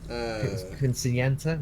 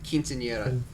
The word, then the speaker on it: Quinceañera: Quinceañera? No, Quinceañera.